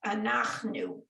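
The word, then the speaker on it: אנחנו: a short sound but it's the end of a syllable it's silent yeah so it's an achnu exactly okay um there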